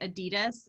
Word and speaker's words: adidas: however as you know in America we say Adidas and so many colleagues here say adidas Sensei Adi does it it's either/or you don't get fired for pronouncing this do you have